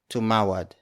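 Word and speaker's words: tumawad: question marker and then the third word is to Mawlid it's spelled as T u M a w a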